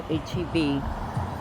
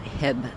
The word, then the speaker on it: HEB: Go to HEB. Not Walmart, not Costco, not anywhere else. Just at HEB. And no, it's not Heb Groceries. It's pronounced HEB.